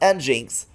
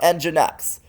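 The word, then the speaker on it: nginx: networks next cloud desktop not pronounced ninx but enginex oftent times you will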